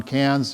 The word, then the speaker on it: Cairns: We are going up to, they pronounce it Cairns, by the way. Cairns, like the city in France, no R's.